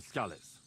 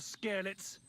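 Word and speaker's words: Skalitz: I'm from Scallet. And what the do you want here, Henry of Scarlets?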